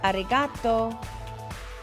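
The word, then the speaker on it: ありがとう: thank you to say thank you you say arigato arigato arigato good job one more time thank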